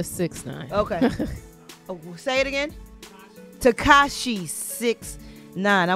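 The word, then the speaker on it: 6ix9ine: this to shocky well how do you say his name six nine just a six nine okay Takashi six nine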